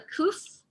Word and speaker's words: kuf: It's a K or It does make a K sound. It's called a kuf.